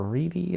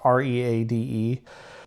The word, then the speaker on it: Reade: The first of their victims was Pauline Reed or Reedy. I'm not sure how to pronounce it. It's Reade.